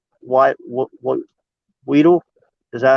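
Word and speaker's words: Weidl: My candidate for our new GM would definitely be Andy Waddell. What Weedle? Is that how you say it? Our head coaching scout? Yeah, Waddell.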